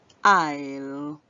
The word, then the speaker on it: isle: So I, the S is silent, so we're going to hear the L make the sound L. I'll.